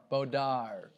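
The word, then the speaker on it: Baudar: For that, you have Pascal, How do you pronounce Pascal's last name? Bodar.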